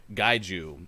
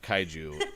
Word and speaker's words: kaiju: things and earlier uh one of us said guide you instead of kaiju i just want to